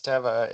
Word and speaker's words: Teva: So it's been funny when people are like, "Oh, you're at Tiva," and I'm like, "No, it's Teva," and so it's Yeah.